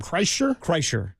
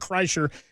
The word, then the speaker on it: Kreischer: Kreischer.